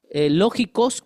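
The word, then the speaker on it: λογικός: Lógico con C de casa es el español, ¿no? Lógicos, pero con K de kilo y acento en la O, lógicos.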